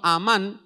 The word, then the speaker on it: Amán: No confunda con el nombre de aquel hombre perverso del libro de Esther, que en hebreo es Hamán, ¿verdad? Es con H. En este caso el hebreo Amán, ¿sí?, con acento en la A, al final es un